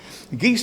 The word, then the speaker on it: guise: sweetly sing sweetly um there's a reference to geese dancing here um it's spell guys and I pronounce it geese or guys but traditionally should be geese dancing it comes